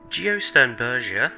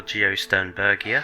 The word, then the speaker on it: Geosternbergia: it is highly speculative geostone berger or geosternbergia however you want to pronounce it is a moderately